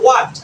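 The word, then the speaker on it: what: তারপর দেখো হোয়াট, আমরা অনেকে এটা হট বলি। কি বলি? হট। এখানে ডাব্লিউ পরে এস থাকলে এস সাইলেন্ট থাকে। তো সব জায়গায় আমাদের এখানে ডাব্লিউ নিজে সাইলেন্ট হয়ে যায়। এটা হবে হোয়াট। কি হবে? হোয়াট।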